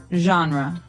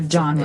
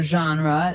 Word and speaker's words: genre: We say genre. Genre. Or genre. This kind of sounds French. Is it French? I think it comes from French. It's a GE word, so genre. It's a soft sound.